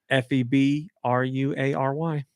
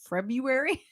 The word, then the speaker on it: February: he didn't spell w-a-y this is one I think we all say wrong but I think it's a collective wrong f-e-b-r-u-a-r-y February February yeah you know everybody says February but it doesn't sound right people say February that's